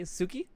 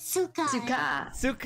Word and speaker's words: Suka: Actually, did I pronounce that properly? Suki? It's Suka. Suka.